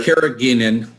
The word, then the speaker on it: carrageenan: So we've got a lot of people asking about the how do you pronounce that, Dr.? Carrageenan.